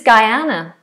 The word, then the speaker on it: Guyana: So, this is Guyana. Guyana. Similar to my name with Guy on the beginning.